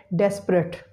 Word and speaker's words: desperate: is that desperate, but there are three syllables, desperate. The schwa sound after P is eliminated, it is raised, and the syllable or the word will be pronounced as desperate, desperate. Next word is family, family.